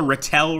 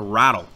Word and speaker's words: Ratel: so we've got the Ratelle right here or no sorry it's actually pronounced the rattle so the rattle here